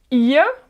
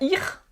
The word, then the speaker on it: ihr: wir pour nous, wir, ihr pour vous. Attention, hein, toujours, c'est pas ir, d'accord, ir, mais ihr, le i est allongé et le r à la fin se prononce presque comme un a.